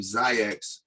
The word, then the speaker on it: Xyayx: 4 or 5 hours later, my man Chris had said the name Zayax, but he said spell it with a Z, and then everybody was like, "Yo, that thing is dope."